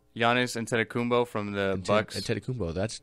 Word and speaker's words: Antetokounmpo: Antetokounmpo, that's how you say it? Yeah, Giannis Antetokounmpo.